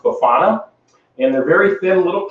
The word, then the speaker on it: bifana: uh Portuguese pork cutlets which is uh pronounced bufana and they're very thin